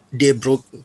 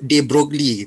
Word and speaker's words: de Broglie: electron microscope seperti yang ah pikir tadi kata debruk pronounciationnya bensin selalu sebut De broglie tapi dia cakep Friends dia Nduk Hai dengar-dengar